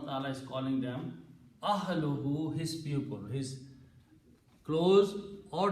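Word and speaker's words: أَهْلُهُ: So when you combine these two words, it will be pronounced as ahluhu, his family. Ahluhu, his family.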